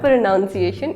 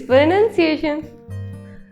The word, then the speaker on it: pronunciation: काफ़ी सारे लोग प्रोनाउंसिएशन को वर्ब प्रोनाउंस से मिक्स कर देते हैं, जिसकी वजह से वो वर्ड बोलते हैं प्रोनाउंसिएशन, बट इट्स नॉट प्रोनाउंसिएशन, इट्स प्रोनाउंसिएशन। सो the right प्रोनाउंसिएशन of word प्रोनाउंसिएशन is not pronunciation, it's pronunciation. Do you like almonds?